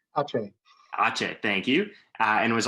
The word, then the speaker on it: Aceh: And I'm going to pronounce that probably incorrectly, but Aka, I believe it is, or Asa? Aceh.